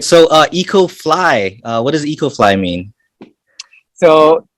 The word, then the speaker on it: 2cofly: co-fly, but it's pronounced EcoFly because the number two in Korean is pronounced E.